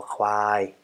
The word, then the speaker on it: ควาย: you're only already getting familiar with how to pronounce this consonant, and your throat is getting used to expressing ka ka ka kwai.